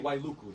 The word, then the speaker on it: Wailuku: W, when it starts a sentence or a word, is usually pronounced like a W. We Yeah. say Wailuku, not I mean Wailuku.